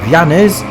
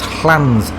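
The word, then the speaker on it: Llanes: So, we're currently leaving our base camp of Yanis and being a Welshman, I've been pronouncing this place as Hans until I was put right earlier on this morning by another biker I was chatting to.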